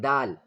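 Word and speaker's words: د: Then dal. Dal. This is dal. The outlet of dal, the tip of the tongue, touches the upper front teeth area quickly.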